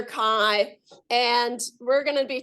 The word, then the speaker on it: chi: This is pronounced chi. Okay. So don't say chi, because then people will think you don't know what you're talking about.